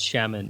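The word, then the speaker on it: Xiamen: was that I lived in this city called Shaman which you probably never heard of it and probably can't pronounce it or look it up on a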